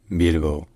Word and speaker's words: Bilbo: First in Basque, this city is called Bilbo. Bilbo. Bilbo. Bilbo. And then in Spanish it's called Bilbao.